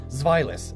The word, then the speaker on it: Zweilous: But trust me, I looked it up, found like 40 different ways to pronounce it, and that one makes the most sense. Zweilous, it's German.